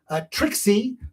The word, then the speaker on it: Trixie: Trixie perfectly, that's how it's pronounced, Trixie.